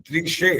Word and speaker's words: दृश्य: ठहरो ठहरो, दृश्य जो श है ना, ये उच्चारण दृश्य। थोड़ा कम रहता है। स आता है आपका उच्चारण, स। दृश्य। हाँ ये स आ रहा है, स नहीं आना चाहिए जी।